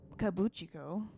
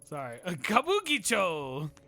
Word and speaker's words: Kabukicho: attention special attention doesn't kibou Chico get a look at all I said it right you said kibou Chico doesn't cappucci go get enough attention or Kabukicho is what it is but this isn't in